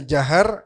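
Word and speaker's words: جهر: Jahr yang bacanya jahar khususnya di salat ee subuh, magrib, isya ya.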